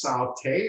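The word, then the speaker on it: sauté: got sauteing okay uh the worst satay is pronounced saute refers to the form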